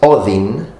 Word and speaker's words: Odin: Now, it's interesting because in Old Norse, it was actually pronounced Odin, so more similar to modern-day English.